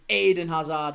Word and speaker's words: Eden Hazard: It's Eden Hazard where I'm from, but everyone's Aiden. Aiden Hazard.